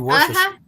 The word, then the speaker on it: Worcestershire: I mean, everybody says it differently. It's actually Worcestershire. Worcestershire sauce. Worcestershire sauce. Yeah. Come on, Dave. You know I'm sorry. The good Okay. Oh, You yeah. say a Worcestershire Yeah, sauce.